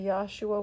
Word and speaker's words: Yeshua: the ye is like the rabbi that hates yeshua was spitting his name yeshua its yeshua the father's name is in the son's name some people say Yahshua y8s hua some say yahushua like Yahweh Yahweh